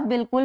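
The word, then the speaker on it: بالکل: लिखने का, लेकिन इसमें अलिफ की आवाज़ बिल्कुल भी नहीं आ रही, बल्कि इसको ऐसे बोला जाता है बिल्कुल। लेकिन दुरुस्त इसका तलफ़ुज़ क्या है? इसको अलिफ के साथ लिखा जाता है। अलिफ इसमें साइलेंट है यानी कि खामोश है।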